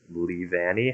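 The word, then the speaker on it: Leavanny: sticky webs with uh lee vanni how do you say that pokemon's name i that's how i would have said it okay i think you're good yes it's like leaves um but that's a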